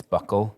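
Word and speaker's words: buccal: a link to is talking about Barney having bual fat removal is that how it's pronounced it isn't but I like that pronunciation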